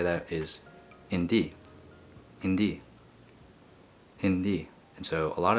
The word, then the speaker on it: hindi: so the way to say that is indeed Hindi Hindi and so a lot of native speakers also say the relax the I at the end and they pronounce it as Hindi and that's the one that I used to